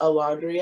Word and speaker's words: Alondria: name i'm like oh it's a laundry and i say i slow it down so they can hear it phonetically like they automatically dismiss